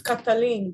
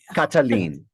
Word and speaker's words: Kataline: please yes you are well it's kataline but Cataline okay well that's that's